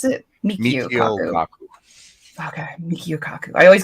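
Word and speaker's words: Michio Kaku: And I've heard Mikachi Kaku say that in a Kaku how do I pronounce it? Mikio Kaku.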